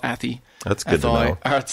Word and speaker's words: Athy: Then the Athy, I think this is pronounced Athy, not Athy.